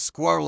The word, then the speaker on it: squirrel: Some suggest that squirrel could be included, but squirrel is intended to be pronounced as 2 syllables squirrel according to most dictionaries. Screeched and strengths are 2 other long one-syllable words, but It's intended to be said in 1 syllable.